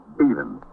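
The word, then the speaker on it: Beavan: And your name is Bean. I spell it B E A V A N, but I pronounce it.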